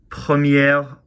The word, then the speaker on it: première: way, cher and cher, but with premier in the masculine, c'est mon premier jour. It's my first day, so c'est mon premier jour. D'accord. But if I want to say it's the first time, c'est la première fois, and you do pronounce the R there.